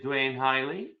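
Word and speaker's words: Duane Highley: have a great guest today his name is dwayne hiley i hope i'm saying that correctly you said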